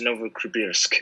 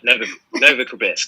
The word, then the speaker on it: Novokribirsk: And they were like, it is Novokribirsk. And I was like, Novokribirsk.